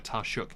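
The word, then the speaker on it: Taoiseach: other how complicated the system to become a taruk in Ireland is taruk is their prime minister essentially although it's spelled t a o IO s e a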